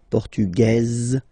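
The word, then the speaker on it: portugaise: don't pronounce the S feminine form portuges you pronounce this Z sound okay and then remember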